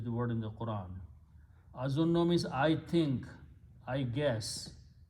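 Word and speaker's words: أَظُنُّ: So when you combine two noons with a shadda, it will be pronounced as azunno, which is the word in the Quran. Azunno means I think, I guess.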